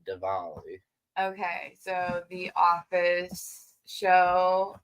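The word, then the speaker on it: Diwali: oh Festival of uh it's spelled Dali but pretty sure it's said devali okay so the office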